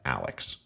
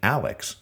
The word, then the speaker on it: Alix: after her mother and that name Alex was just the German approximate pronunciation of the English name Alice and it always makes